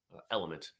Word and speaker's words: LMNT: Element is really the product, but they spell it out LMNT.